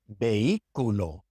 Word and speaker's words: vehículo: So for example, in hora, hora, hijo, hijo, vehículo, vehículo. You can see in these words that we do not pronounce the H.